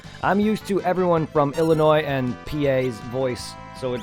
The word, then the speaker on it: Illinois: Illinoisies, no, because it's not pronounced with an S. So many people at Illinois. work. It's Illinois, by the way.